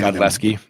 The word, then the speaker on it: Godlewski: Godlewski. The W is silent.